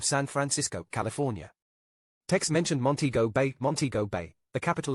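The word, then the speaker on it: Montego: outside its commercial core also it is pronounced monteo you fleshy fool Tex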